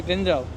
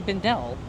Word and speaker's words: Bindel: I'm here with the one and only Julie Bindell. Is that how you say it? Some people say Bindell. Well, then they're wrong. It rhymes with swindle.